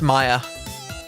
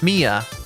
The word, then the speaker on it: Mia: to make ARA as Maya Mia. I forget how it's pronounced. Okay. A rera is spelled o u r e r a. Right. Maya from Golden Sun. Mia. Mia. Got it.